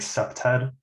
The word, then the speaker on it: CPTED: through environmental design so the acronym they pronounced it like septed uh and basically this